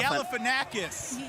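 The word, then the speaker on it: Galifianakis: this guy's name zach how do you say his last name galif and knock it out gallifanakis you look like him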